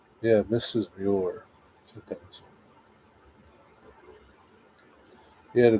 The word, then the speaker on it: Muir: I saying it right The Ghost and Mrs Mueller yeah Mrs Muir two things he had a ghost in Mrs Muir 1968.